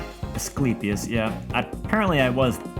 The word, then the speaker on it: Asclepius: A doctor once believed to descend from Asclepius. Asclepius, yeah. Apparently I was pronouncing that mostly correct all along.